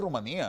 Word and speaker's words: Rumanía: es Rumanía o Rumanía Pues en español es Rumanía no porque tiene un acento en la e tiene una tilde en la i Bueno no sé si